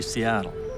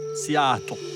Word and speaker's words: Seattle: People all over the world say Seattle, but in the local language, it's pronounced more like Seattle.